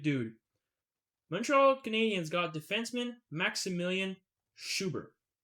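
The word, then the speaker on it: Maksymilian: Maxime Milan, or Million, essentially. But it's pronounced Maximilian. But that's just the westernization It- of it.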